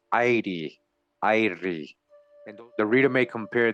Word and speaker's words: Iere: and all this great land was called Edie pronounced aide and the reader May compare these Irish folklore